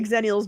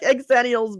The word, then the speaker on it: Xennial: But yeah, I like Exennials better than Xananiels because they say X is pronounced Z, you know, but I'm like but I like it's a port manto. I want the two together. I want Gen X and Millennial pushed together and it's Xennial. That makes more sense to me.